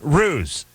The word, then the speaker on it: Roos: R-O-O-S is ruse, and that's fine. I have R-U-S-S in front of me. And then it says and then it says it rhymes with goose.